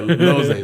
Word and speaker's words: Jose: His name rhymes with Loze. Yeah, Jose.